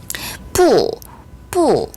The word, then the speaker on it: 不: 뿌 아니 불자의 발음은 뿌입니다. 원래는 사성이에요.